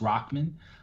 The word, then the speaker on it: Rahman: So Rahman, and it's spelled Rahman. It looks like ramen, but it is pronounced Rahman.